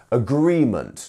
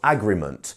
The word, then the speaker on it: agreement: have the dot here this means that this syllable is the stressed syllable in this word agreement not agreement or agreement you see we are